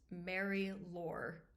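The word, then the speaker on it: Marie-Laure: have our character which I looked up the French pronunciation and I was told in the video by the Frenchman that it was okay to pronounce this Mary lore in English so that's probably what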